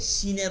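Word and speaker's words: ش: আমরা দাঁতে লাগাবো না, দাঁতে লাগাইলে কিন্তু ওই যে এখানে সিন উচ্চারণ হয়, যেই দাঁতে লাগবে সাথে সাথে এটার টাচ চলে আসবে, শুধু তালু দিন।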